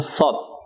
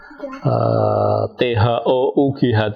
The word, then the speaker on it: thought: Dalam bahasa Inggris itu pemikiran sebagai produk itu nyebutnya thought. Kalau bahasa Inggris itu TH itu bacanya tak biasanya. Thinking, bentuk tiganya think itu kan thought kan. THOUGHT itu tuh thought.